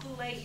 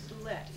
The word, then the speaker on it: Bulette: And one thing that came out, a godsend for Julia Bulette, and I pronounce it Bulette, even though most of Virginia City says Bulette, is because of this research.